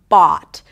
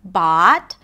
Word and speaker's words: bought: Bought is a long open ah sound, and it's actually, it could be pronounced with the ahs and father, bot, depending on the dialect, right? So you can say bot, and you can round the lips a little more to say bot, right?